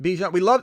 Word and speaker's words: Bijan: Bijan. Everybody loves the way you're pronouncing these names.